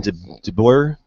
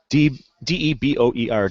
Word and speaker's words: DeBoer: Ryan DeBoer. I can never pronounce that. D-E-B-O-E-R.